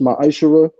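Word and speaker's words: מעשר: Means tenth in Hebrew and is pronounced ma'ashara.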